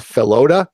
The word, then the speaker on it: Felota: And it's Felota. Is that it? Oh yeah, Felota. Felota. Felota. It's almost like floater, but Felota. And Dakota seconds that.